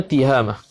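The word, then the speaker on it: تهامة: Bacanya tiha, bukannya ta, bukannya tu. Bacanya tihamah.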